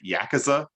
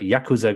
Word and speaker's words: Yakuza: It's kind of like we talk about Yakuza.